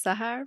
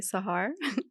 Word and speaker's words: Sahar: our audience okay so my name is Sahar but Americans call me Sahar it's easier to pronounce I originally came here